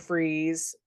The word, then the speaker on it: Fries: Like they wanted Mr. Freeze, and they, which is so funny to me that it's spelled fries, Fries.